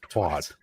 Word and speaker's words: twat: no, it's twat. Wah. Twat. It's like the word Twat. water. It's twat. Yeah. The W makes it have a wah sound, but It's the a word noun and water, also a like verb.